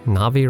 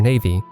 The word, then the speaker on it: Navi: navi the ferry and i'm pretty sure i pronounced that correctly navi right cause i went most of my gaming life calling her navy anyways navi is one